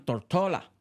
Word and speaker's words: Tortola: La mayoría, los primeros, eran de la isla Tórtola, que en inglés ellos pronuncian Tortola.